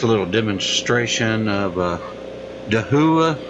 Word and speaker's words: Dahua: little demonstration of uh dahua I think it's how it's pronounced d a h UA uh it's a security webcam